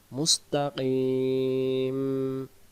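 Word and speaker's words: مستقيم: তা অক্ষরটা আদায় হচ্ছে কিন্তু কোরআন শরীফে ঠিক আছে আমরা বলতে ভুল করব মুস্তাকিম মিলে যাবে কিন যেন না হয় কিম দুই লেগে যাবেদিনা সিরাতাল মুস্তাকিম সবাই বলেন আয়াতটি দুইবার সিরাতাল মুস্তাকিম আরেকবার সিরাতাল মুস্তাকিম যে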